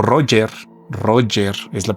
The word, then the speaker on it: Roger: El general o Roger, Roger es la pronunciación correcta, Roger Ramey, convocó una rueda de prensa en Forward y mostró otros restos.